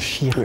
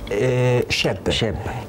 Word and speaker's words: Cheb: Et puis après, le nom de chanteur, on dit Chir. Avant, on prononce Chir. Maintenant, c'est Cheb.